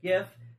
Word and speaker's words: GIF: calling a jiff not gift and its tip it yeah the creators who doesn't creator is not a linguist he's not it's a hard G it's gif he's an idiot if